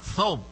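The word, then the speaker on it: ثوب: আসলে তোপ না, সৌব। সৌব, এটা হচ্ছে সৌব।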